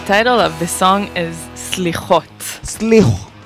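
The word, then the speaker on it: סליחות: The title of the song is Slichot. Slichot. How do you pronounce it? Yeah. Slichot. Slichot, exactly.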